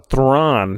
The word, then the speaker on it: Thran: that pronounced Asian guide is it a tram or is a throng oh oh I actually don't know if that's on there I am looking it up right now dance I I think we need to settle this once and for all because I just throng throng there we go because the pronunciation guy that says th are a hn there we go yeah we